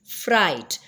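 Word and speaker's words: fright: होगी लाइट फिर है फ्राइट फ्राइट के अंदर भी हम जी को साइलेंट करेंगे और हम जो है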